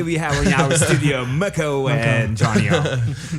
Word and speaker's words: MKO: And that's when I changed my alias to MKO, which is actually pronounced Muko. It's actually short for Mike in Armenian.